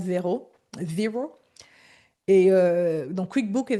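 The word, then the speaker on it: Xero: Ils appellent ça zéro, je ne sais pas pourquoi, mais pourtant c'est écrit avec X. C'est Xrow, mais on prononce zéro.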